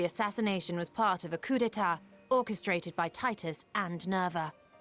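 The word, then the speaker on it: coup d'état: Oh, it's pronounced coup d'etat.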